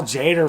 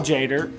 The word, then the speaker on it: Tjader: we you know we people say his name different I believe it's Cal Tjader yeah possibly vibraphonist I